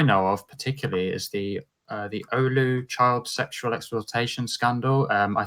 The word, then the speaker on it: Oulu: And I mean, what I know of particularly is the Oulu child sexual exploitation scandal. I think I'm pronouncing the name of the city correctly. I'm not. Yes. Yeah. I live in Oulu.